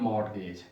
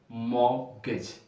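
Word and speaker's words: mortgage: But this is नॉट the word मॉर्टगेज। इस लफ्ज की प्रोनाउंसिएशन, जो दुरुस्त प्रोनाउंसिएशन है, that is मॉर्गेज। मॉर्गेज मॉर्गेज दुरुस्त लफ्ज है। तो ये ब्रिटिश प्रोनाउंसिएशन में है, चूंकि आर की भी आवाज नहीं निकाली जा रही है। मॉर्गेज, आर की आवाज नहीं आएगी।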